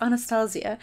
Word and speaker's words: Anastasia: say that is not in the stage it's Anastasia they do a lot of like eyebrow stuff